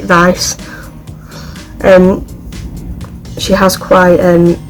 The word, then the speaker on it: Weisz: the movie because rachel dice i think she's cool i think you pronounce it vice and she has quite